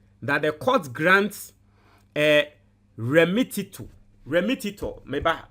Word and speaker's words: remittitur: like in mini, tuta into the word is remittitur.